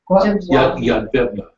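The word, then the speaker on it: Jedwabne: If you can Yeah, pronounce it. right, with a J. Yadvabna.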